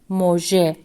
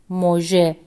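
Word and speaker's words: مژه: And the first word is moje, which means eyelash. Moje. As you see, it is pronounced e, and the letter he hasn't joined the letter B for it, which is letter j. Moje.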